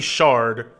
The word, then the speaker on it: sherds: can get from it why people call them shirs because that's how it's spelled is it spelled like that in the game yeah oh I know that yeah that's why I say it it feels bad for me to say I'd rather say Shard I don't Shir sounds